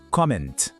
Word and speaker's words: comment: O T no final é mudo, a gente não fala, e o N tem aquele som nasal. Fica assim, comment.